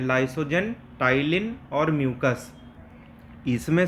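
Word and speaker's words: ptyalin: मारेगा अभी बताएंगे अभी यह जो टाइलिन होता है जिसमें पी साइलेंट होता है इसका काम होता है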